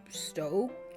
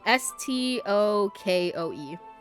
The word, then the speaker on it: Stokoe: Yeah, it's called Cows by Matthew Stoke. I don't know how to say it. It's Stokoe. I love reading bad books.